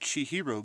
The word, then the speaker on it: Chihiro: say it wrong but japanese it's pronounced chi like cheeto so guy on assembler j fox rocks is making an application to help load she hero games on retail xboxes